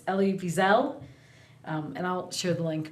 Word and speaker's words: Elie Wiesel: Again, it's Night, and it's Elie Wiesel. And I'll share the link because the name does not look like how you pronounce it, and I Googled how to pronounce